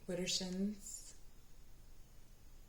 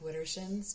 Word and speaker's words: Widdershins: Walk Widdershins, and ask the land under the hill. Ask the fairies. Okay, so this is a specific way of walking. It's Widdershins. I know it just looks like Widdershins, but there's a way of saying it that